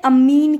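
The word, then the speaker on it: ammine: अच्छा, अमाइन कहते हैं इसको, और जिसमें डबल M होता है ना, इसमें अमीन कहेंगे, अमीन। दोनों का प्रोनाउंसिएशन अलग अलग होगा।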